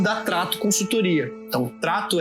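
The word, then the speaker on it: Tratto: Então, Trato é T-R-A-T-T-O. É Trato como, né, de trato, só que com 2 T's na segunda sílaba.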